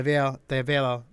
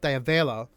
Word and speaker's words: Davella: So, we talked about I talked about previously this thing that Davea, sorry, got your name wrong again. Davella um, demonstrated from the cruisal method going into the double pedal register.